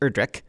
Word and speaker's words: Erdrich: and it's pronounced erdrich without the ch at the end just erdrick this is the sequel